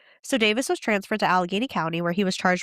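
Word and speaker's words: Allegheny: We know it's Alageney County.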